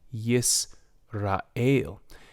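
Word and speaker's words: ישראל: In the second word, I did not pronounce it, Yisrael.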